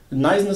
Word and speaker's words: Knysna: Nizhna, South Africa. It's spelled K-N-Y-S-N-A.